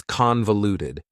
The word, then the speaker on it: convoluted: The final adjective that I have for you is convoluted. Convoluted also has 4 syllables, and the stress is on the first syllable, convoluted. That second syllable again has that schwa sound, that reduced vowel sound.